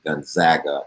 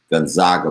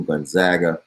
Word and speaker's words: Gonzaga: something on gonzaga and we decided last week that we were pronouncing gonzaga as opposed to gonzaga because their nickname is the zags and so since we're gonna call them the zags then we're gonna call the school gonzaga but baylor really put